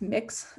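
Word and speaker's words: Mx: replaced with gender neutral term uh which is pronounced mix um that's thought of as a gender neutral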